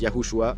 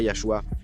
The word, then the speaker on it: Yahushua: s'écrit yudav shinim et cela se prononce yahouhua pas yahhua mais la plupart des